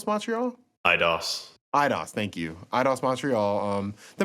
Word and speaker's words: Eidos: It's made by, I think it's still pronounced Eidos Montreal? Eidos, thank you.